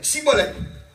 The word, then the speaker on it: shibboleth: Là, il dit, Chibolette. Et la prononciation là, c'est marque ça H là-bas. Et là, chi et si, pas pareil. La différence, c'était le H.